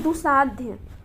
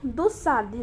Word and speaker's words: दुस्साध्य: Next है दुसाध्य, दुसाध्य का क्या हो जाएगा, दुस्साध्य, जो सही प्रोनाउंसिएशन है दुस्साध्य।